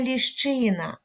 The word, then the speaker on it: ліщина: ми його позначаємо кружечком вимовляємо другий склад щи які звуки Ми чуємо ш ч и ш це твердий приголосний